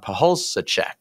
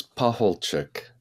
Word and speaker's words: Pacholczyk: by father um pek is that right father uh it's close it's pahul pek yes chick like a chicken at the end P okay well do